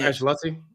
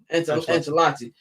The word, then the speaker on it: Ancelotti: They're gonna get rid of how you pronounce his last name? Their coach, Ancelotti. Ancelotti.